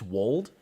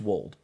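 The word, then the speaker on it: Weald: It's a Wold, right? W-E-A-L-D. I think it's Wold. Someone remind me. I think it's Welsh, so it's like it doesn't sound like how it's spelled. I think it's Wold.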